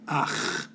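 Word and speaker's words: أخ: of entertaining because it has a letter we don't have in English, a sound we don't make. The word for brother in Arabic is akh.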